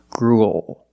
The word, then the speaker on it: gruel: a kind of food it ends with a dark L because the L is